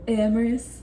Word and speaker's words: Amaris: It sounds the way it's spelled, all right? Because everyone's been asking me, what's her name again? People are calling me like, how do you say her name? Amaris.